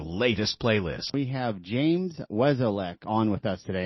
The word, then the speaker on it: Wesolek: We have James Weslech on with us today. Am I pronouncing your last name correctly? You are. Wesolic. Yep.